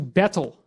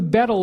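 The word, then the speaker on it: baetyl: renamed from omphalos to betel. And it's a little funny because the AE is kind of pronounced E, so it's more like beetle.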